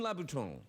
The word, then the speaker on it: Louboutin: I mean- Christian Louboutin. Yes. The You pronounced it correctly, which is very good.